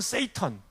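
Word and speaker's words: Satan: 영어로는 세이턴. 우리 식으로 읽으면 사탄인데 그 사람들은 발음을 세이턴이라고 하죠.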